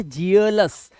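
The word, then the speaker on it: jealous: यह वर्ड वही है दिस इज नॉट जलस या जीलुस ना सिर्फ जेलस क्यों देखो एल ओ यू एस तो बनाता ही लस है लस ठीक है और यहां पर जे से बना आपका ज ठीक है और यहां पे ई ए के लिए आपका उच्चारण जो है ए का आएगा ए का तो यहां पर जेलस इसीलिए जेलस वर्ड बना ऐसे ही ई ए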